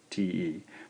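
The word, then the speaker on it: て: This one's really just written romanized as T-E. Pronounced te, te. This is also a single stroke. Starting again in the upper left quadrant, over, and then looping back around. Te, te.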